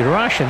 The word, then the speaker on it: Rashid: His name is actually Rashid, isn't it? Well, it's spelled Rashid. Rashid's with two E's, isn't it? R-A-S-H-E-E-D. But this is ID, which is Rashid, like Rashid Khan.